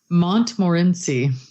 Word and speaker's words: Montmorency: I have the pronunciation of that cherry now, though. If you're interested. Yeah, what is it? Montmorency.